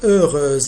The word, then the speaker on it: heureuse: Donc heureuse, ici, ce H-là, c'est un H muet. Alors il est considéré comme une consonne, comme une voyelle.